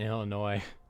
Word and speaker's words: Illinois: I just pronounced the S in Illinois.